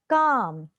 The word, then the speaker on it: calm: Calm. Again, L silent.